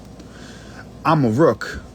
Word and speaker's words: Amaruk: America Amaruk is how you say Morocco in the Berber language, which was the original language of this land.